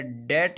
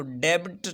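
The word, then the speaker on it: debt: डेट है, कर्ज़े को कहते हैं, तो यहाँ पर हम इसको डेब्ट नहीं पढ़ेंगे बल्कि डेट पढ़ते हैं।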